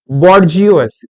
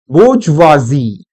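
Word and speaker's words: bourgeoisie: जियो, उसके बाद ISIE, ये वर्ड बना बच्चों बॉर्जियोस, बॉर्जियोस, अपने लिए बॉर्जियोस, और इसका जो करेक्ट प्रोनाउंसिएशन है दैट इज बोर्जवाजी, बोर्जवाजी, इसका मतलब होता है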